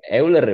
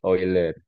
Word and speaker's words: Euler: kayak ini ini ya Ini bukankan eer bacanya Ya tapi oiler oiler ini cara bacanya lowital low pital low